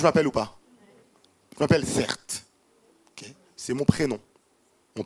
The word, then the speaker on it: Certe: ou pas je m'appelle certes ok c'est mon prénom mon prénom donc c'est vraiment cert c'est pas un nom de scène ça s'écrit c e r t e mon prénom c'est un